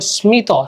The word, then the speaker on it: স্মিত: ম ফলাযুক্ত কিছু সংস্কৃত শব্দে ময়ের উচ্চারণ হয়, যেমন স্মিত, স্মিত হাসি, স্মিত, স্মিত, দেখছো স্মিত, স্মিত, কুষ্মাণ্ড, কুষ্মাণ্ড, ঠিক আছে?